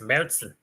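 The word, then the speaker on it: Märzen: Is it Marzen or Marzen? Marison. Yeah, it's Merzen. Merzen. Yeah. Marzen. You got to do it with a German accent, otherwise you're gonna.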